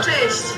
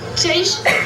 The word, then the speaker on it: Cześć: Ah oui, tu l'as très bien prononcé en Pas mal, hein? Apprends-moi d'autres mots. Dzień dobry pour dire bonjour. Cześć. Ça veut dire Ça, quoi? c'est salut. Salut, cześć. Cześć.